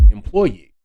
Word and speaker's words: employee: as it's second choice the accent should fall upon the third syllable as employee which is how I've